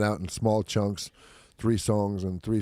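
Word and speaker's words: psongs: it's been coming out in small chunks three songs and three songs and then two songs and the whole record's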